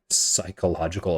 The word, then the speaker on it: psychological: APA or American psychia Psychological Association man I hate that silent P but that's all right